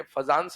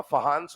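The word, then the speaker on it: Fajans: ये फजांस नहीं होता, फहान्स रूल होता है, बट ठीक है, स्पेलिंग के हिसाब से फजांस रूल बोल देते हैं, ठीक है।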